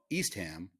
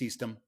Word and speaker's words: Eastham: on the cape called east ham and i'm like how do you say east ham because obviously east ham is east ham and he's like it's easton it is not eastham i don't know where